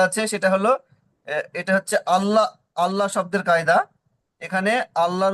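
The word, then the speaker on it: الله: এখানে আরেকটি কায়দা আছে সেটা হলো এটা হচ্ছে আল্লাহ আল্লাহ শব্দের কায়দা এখানে আল্লাহর উচ্চারণ ল মানে পুর করে পড়তে হবে যেহেতু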